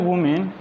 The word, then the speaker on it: women: हुए, फॉर ऑल द वुमेन, देखो वुमन जब सिंगुलर हो तो ए आएगा, WOMAN, उस कहेंगे वुमन, और जब प्लूरल हो WOMEN, इसको पढ़ेंगे वीमेन।